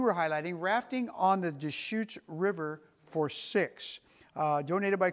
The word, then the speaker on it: Deschutes: So on the Deschutes River, sometimes I've heard it pronounced Descahooties, and that's wrong, okay? So it's the Deschutes River.